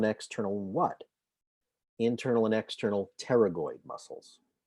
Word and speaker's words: pterygoid: what internal and external pterygoid muscles paragoid is spelt with a silent p p t e r y g o i d so temporalis internal pterygoid